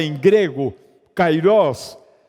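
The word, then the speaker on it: καιρός: antes é e nem depois o Kairós em pronunciada em grego Kairós essa é a palavra usada e para um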